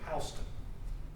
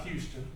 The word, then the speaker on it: Houston: But William Hines, the first county seat shortly thereafter designated was the community of Houston, not Houston.